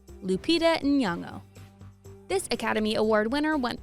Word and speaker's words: Lupita Nyong'o: Lupita Nyong'o. Lupita Nyong'o. The N isn't silent, even when she says it fast.